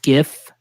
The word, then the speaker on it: GIF: and it's just a little GIF. That's right. I'm a GIFer with the hard G.